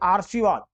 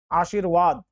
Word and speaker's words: आशीर्वाद: आ गया ना ऊपर ऊपर यानी इसका पहले उच्चारण होगा सारम म से पहले आ जाएगा सारम ना सामर्थ म के बाद यह आर्शीवाद आर्शीवाद ये देखो ये एग्जाम में बहुत आता